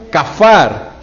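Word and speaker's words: כָּפַר: Bueno, en el Antiguo Testamento se utilizan las palabras o se utiliza la palabra capar o que se pronuncia kafar.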